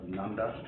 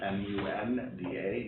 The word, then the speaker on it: Nunda: And if I pronounce it wrong, it's, he's out of Nunda, N-U-N-D-A, New York, is the sole owner of the post office. Nunda, Nunda. kind of like Nunya.